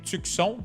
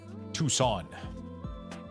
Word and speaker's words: Tucson: I mean, in French we say tukon, so we pronounce the C and we So, it's hard for me to think about saying Tucson. I've been mispronouncing it all day and people keep correcting me. So, now I'm saying it right, but you know, it's kind of complicated.